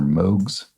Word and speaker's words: Moog: Pioneering synthesizers introduced in the 1960s are Moogs. Looks like Moogs, but I believe it's more properly pronounced Moog, named for its inventor, Robert Moog.